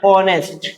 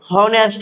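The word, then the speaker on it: honest: तो आपको पढ़ना है ऑनेस्ट। क्या पढ़ना है इसमें? ऑनेस्ट। ठीक है? बी ऑनेस्ट। अगर एच पढ़ोगे तो क्या हो जाएगा? ये होनेस्ट हो जाएगा।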